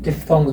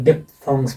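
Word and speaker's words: diphthongs: Sounds को English में डिफ्थोंग्स बोलते हैं। अब इसको आप डिफ्थोंग्स भी बोल सकते हैं और डिप्थोंग्स भी बोल सकते हैं, दोनों ही उच्चारण सही है इसके।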